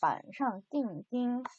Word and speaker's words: 板上钉钉: 板上钉钉. 그리고 제가 일부러 지금 한어 병음을 가지고 왔는데요. 지금 똑같은 한자가 두 개 나와 있는데 발음이 다르죠.